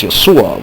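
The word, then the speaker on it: ܝܫܘܥ: Arabic-speaking Christians call Jesus Yeshua, which corresponds exactly with the aforementioned Yeshua, as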